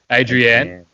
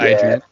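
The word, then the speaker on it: Adrianne: these are about people adrienne and not adrian i think so and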